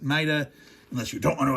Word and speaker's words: Maida: So, you shouldn't say Maida, you should say Maida. Okay? I'm not going to fault you if you're British and you say that way, but if you're if you're not British, go ahead and and and pronounce it Maida, unless you don't want